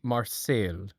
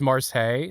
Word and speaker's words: Marseille: Oh, it's Marseilles. That's how you pronounce it.